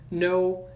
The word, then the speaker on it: know: Lembrando que, né, uma coisa aqui da fonética, sempre K e N, sempre quando você vê K e N no inglês, o K não é pronunciado, tá? Então, know, knew, que é o passado de know, knee, que significa joelho, knock, que é bater, né? São palavras que se pronunciam sem o som do K, tá?